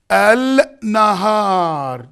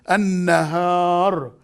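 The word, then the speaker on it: النهار: Al-nahar. Did you hear me? Al-nahar. Did you see? Al-nahar. But the pronunciation is not supposed to be this. Pronunciation is an-nahar.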